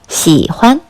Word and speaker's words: 喜欢: 기불 희와 기불 환 두 한자를 합쳐서 喜欢 라고 발음합니다.